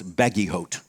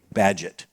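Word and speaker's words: Bagehot: are looking that up it looks like it should be pronounce baggy hot it's not it's an egas siiz French name badget obviously if it's obvious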